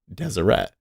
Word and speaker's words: Deseret: like e and a we pronounce them with a schwa which is really like almost dropping the vowel so SH was like